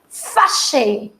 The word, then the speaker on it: fâché: There is no difference in the pronunciation, but of course, while writing, it makes a difference. Male will write the first one and female will write the second one with an extra E.